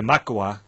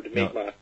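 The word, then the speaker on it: Mi'kmaq: eliminate uh the the the Makwa right did I pronounce it right no migma migma I'll get that right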